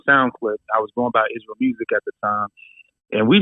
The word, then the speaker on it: Israel Musiq: used to be like, it's pronounced IsRael Musiq because of IsRael Musiq.